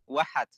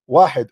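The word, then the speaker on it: واحد: Wahad. Wahid, on one creator, right? You do not even know how to say it. It is not wahad, it's wahid.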